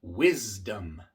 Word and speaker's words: wisdom: También en la palabra wisdom. Wisdom. La D también es una consonante sonora y por eso la S viene siendo sonora antes de la D. Wisdom. No es wisdom, sino wisdom. Wisdom.